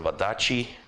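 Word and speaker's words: Wadati: Wadachi. That's how you pronounce the TI.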